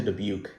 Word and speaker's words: Dubuque: So that's where he gets Boston to Dubuque. You might be thinking, Boston, that's something. Dubuque, what the heck is that supposed to rhyme with Nuke and Duke? Yeah, kind of.